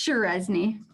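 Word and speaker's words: Cseresznye: question what's your last name dear that's shirezny can you spell that it's c s e r e s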